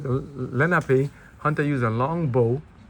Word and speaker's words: Lenape: let me see if you said it right, Lenape, N-A-H-P, Lenape, Lenape, which means common people.